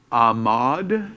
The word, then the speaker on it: Ahmaud: you all help me because I'm terrible at pronunciation of names. Ahmaud is how his name is pronounced, unfortunately.